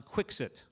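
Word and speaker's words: Quixote: expert on servantes and as he insisted on pronouncing it Don quick sit professor professor Selig often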